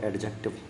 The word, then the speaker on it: adjective: रही है वो है एडजेक्टिव क्या है दोस्त एडजेक्टिव क्या बताया था मैंने थोड़ी देर पहले कि भैया डी साइलेंट रहता है है ना तो एडजेक्टिव